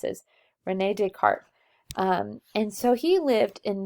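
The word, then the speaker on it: René Descartes: Rene Descartes it's not desk art ace it's French so we don't pronounce the S is Rene Descartes and so he lived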